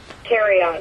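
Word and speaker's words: Thieriot: I don't even know how to pronounce his last name. Terriot, yeah. Okay. Nobody does. I don't think he does. Okay. Yeah, Terriot.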